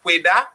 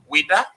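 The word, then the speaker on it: Ouidah: You know, so when they wanted to pronounce Wida, right, French people say Wida, and Portuguese say Judah. Other people say Wida.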